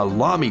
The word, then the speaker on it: Lamy: happens i took my lamy pen pronounced like mommy in the words of